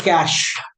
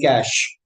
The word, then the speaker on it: cache: We call it as cash. C A C H E. We don't pronounce it like catch. We pronounce it like cash.